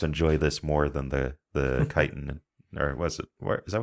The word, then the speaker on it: chitin: Chitin is pronounced chitin.